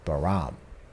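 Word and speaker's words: 바람: the above line says both wish and wind are pronounced baram in Korean the baram for wish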